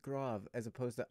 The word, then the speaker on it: grave: It's grave. It's a grave mark. Oh. But it's spelled Grav, so it could be grav.